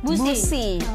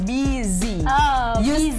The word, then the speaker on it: busy: dalam bahasa Indonesia bahasanya eh bacanya busi busi motor Nah ya Iya yang betul adalah buizy Z or Z jauh